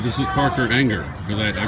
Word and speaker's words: Ehinger: Now, the correct pronunciation of your name, anger. Anger. Like, just like Yeah. Just like E N G E R. Okay. What is the worst pronunciation you? Uh, Aringer. E-hiner.